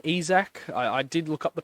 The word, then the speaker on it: Isak: of players most notably Alexander isak which is how you say his name ezek I did look up